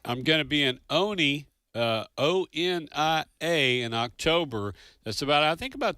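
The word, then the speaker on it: Onia: O-N-I-A, but the locals call it Oni.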